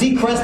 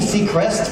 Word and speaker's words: Seacrest: yeah he's doing that that's Seacrest don't do sea crests people fail at Seacrest if you mentioned Isaac